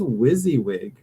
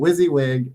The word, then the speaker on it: WYSIWYG: think I know the answer is what does wizzywig mean wizzywig um honestly I have to look